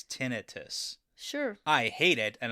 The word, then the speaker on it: tinnitus: Anyways, I got stuck down the rabbit hole of, okay, is it pronounced tinnitus or tinnitus?